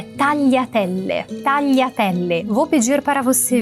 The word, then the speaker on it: tagliatelle: A terceira palavra é tagliatelle. Tagliatelle. Vou pedir para você vir comigo e começar pelo final. Le. Telle. Telle. Pense que está escrito te e separado le. Telle. Iatelle. Tagliatelle.